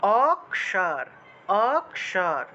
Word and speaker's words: অক্ষর: বাংলা অক্ষর যে লেখা অক্ষর শব্দটাকে যদি আমরা সংস্কৃত উচ্চারণ করতে চাই তাহলে এই খিয়টাকে ভেঙে এই যে খিয় আছে এই খিয়টাকে ভেঙে আমাদেরকে ক এবং মূর্ধন্য তে ভেঙে উচ্চারণ করতে হবে তাহলে উচ্চারণটা হবে অক্ষ অক্ষর তারপরে আবার দেখুন এই যে